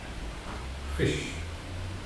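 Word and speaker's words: ghoti: The answer was fish. G-H, the F as in cough, O, the I as in women, and T-I, the ship as in attention.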